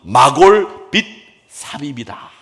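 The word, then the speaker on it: 마골밋사빕: 말이 뭐였느냐면 네 이름은 마골 빗 사빕이다 이렇게 얘기를 했습니다. 사빕 발음하기가 좀 어렵죠. 빗 사빕입니다. 빕스할 때 빕이에요. 마골 및 사빕입니다.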